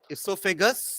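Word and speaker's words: oesophagus: ओ is silent ना, इसोफेगस where O is silent, और इसका सस्ता वाला नाम है फूड पाइप।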